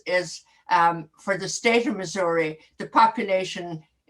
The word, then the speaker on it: Missouri: St. Louis is really and Missouri, not Missouri. Missouri, yeah. I would say Missouri.